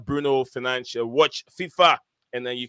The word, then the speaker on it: Bruno Fernandes: Yeah, guys, if you don't know the right pronunciation of his name, it is Bruno Fernandes.